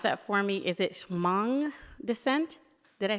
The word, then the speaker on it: Hmong: Can you pronounce that for me? Is it Hmong descent? Did I say that correctly? Okay, Hmong descent.